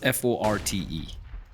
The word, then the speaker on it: forte: Also, completely unrelated, but how do you pronounce F-O-R-T-E? F-O-R-T. E. E. T-E, yeah. Forte. So it's actually pronounced Fort, is what I found out.